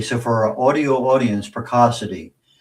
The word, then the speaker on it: Precocity: I'm also on LinkedIn under uh my name, or uh peracity. And um yeah, those are the best ways to reach me. Okay. So for our audio audience, Preassity P R E C O C I T